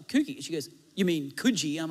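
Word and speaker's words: Coogee: up and there's this place in australia called kuji but i pronounced it coogie that's how i thought it was like those g's and e's and so i just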